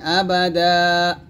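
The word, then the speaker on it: أَبَدًا: টান মাকিসিনা ফিহি আবাদা এখানে আবাদান আছে তবে আমরা থামলে আবাদা বলবো আর এখানে আবাদাও লেখছে কারণ হচ্ছে যে আমরা এটার সাথে এটা মিলাই তাহলে দাও বলবো তো দাও বলবার দরকার না আমরা আবাদা বলবো মাকিসিনা ফিহি আবাদা ওয়ায়ুনযিরুল্লাযীনা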